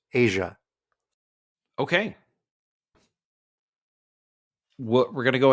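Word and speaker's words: A'ja: You said Aja Wilson. Yes. I believe that's pronounced Asia Wilson.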